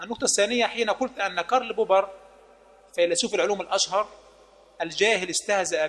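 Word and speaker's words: Karl Popper: فيلسوف وليس بعالم بالمناسبه هولا ينطقها كارل بوبر وينطقها قغل بوغ ولا ادري في اي يعني نطق هذا الكلام ربما هو تعلم مؤخرا فقط الصوتيات في اللغه الانجليزيه ربما هو يعني يستعيد امجاد الاستعمار الفرنسي فيريد يعني استعاده الامجاد بنطق بلهجه خطا هو يسمى ايها الجاهل كارل بوب وليس قغل بوب ندخل الان الى اي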